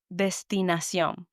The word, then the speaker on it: destinación: The word destinación, which means destination, the tilde, the accent, is on the O, above the O. So I know that sion, last syllable of the word, needs to have the strongest emphasis. And I pronounce all the word as it's written, doesn't change.